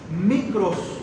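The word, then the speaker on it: μικρός: José Santiago el menor la palabra menor en el griego se pronuncia micros de ahí viene el término microscópico y todo esto micros literal significa pequeño Eso significa entonces lo que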